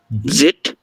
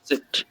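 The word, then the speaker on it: Zett: ইক্স xerox, ইক্স xerox, epsilon, জেড সালেন। ছালেন, সেট, জেড না, সেট। সেট।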